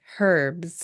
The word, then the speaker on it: herb: I also like how they say herbs like herbs, I do it that way. That's correct. There's an H there. but I feel like it would be the opposite. Like British pronunciation, I feel like would have skipped over that sound.